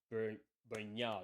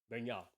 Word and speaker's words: Bernal: And at some point, Rodri would come in for Bernal, is how you say it. Bernal.